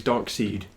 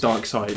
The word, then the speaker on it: Darkseid: I always used to think he was called Darkseid. Because they spell it S-I-E-D, I think. They spell it Sid. Yeah, so I thought it was like, oh, he's Darkseid. I think it's Darkseid. But it is Darkseid, yeah.